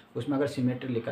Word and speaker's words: symmetry: कुछ लोग कहते हैं कि सिमिलेटरी नहीं, सिमेट्री। ठीक है, स्पेलिंग में लिख देता हूँ यहाँ पे, सिमेट्री। ठीक है, नॉट सिमिलेटरी नहीं, सिमेट्री फैक्टर।